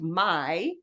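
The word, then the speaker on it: Meijer: the store Meyers and it's spelled Mei which is pronounced my and then s which is written J RS like the first time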